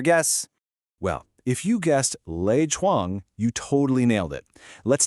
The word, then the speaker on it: 赖床: Well, if you guessed Lei Chuang, you totally nailed it. Let's take it slow and pronounce it together. Lei Chuang.